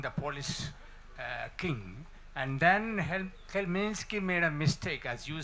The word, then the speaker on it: Khmelnytsky: How do you pronounce Khmelnytsky or Khmelnytsky?